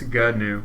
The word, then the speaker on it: GNU: victim I think it's I think it's new cash but anyways it's gnu c a new cach and the idea here is um two syllables G new oh it is G that's what Wikipedia's pronunciation key says wow learn something new